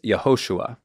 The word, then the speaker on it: Yehoshua: this name the older version for Joshua is yahushua which is most often used for Joshua the